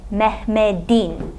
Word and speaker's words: Mehmet: is still written as a te but it's pronounced as a day mehmed even though it doesn't change in writing